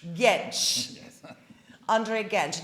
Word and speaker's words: Gentzsch: Could you please pronounce it for me? Gentzsch. Gentzsch.